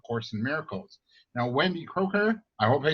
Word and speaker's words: Kroeker: Now, Wendy Kroeker, I hope I spelled that and pronounced that right? Am I okay? Yeah? We say Kroeker here, but okay.